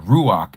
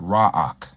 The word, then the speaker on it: ruach: And ruach and not raak.